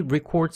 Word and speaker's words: record: 동사가 아니라 명사가 있습니다 발음은 Record입니다 동사와 명사가 발음이 약간 다른 거 주의하길 바랍니다 그는 녹음합니다 역시 3인칭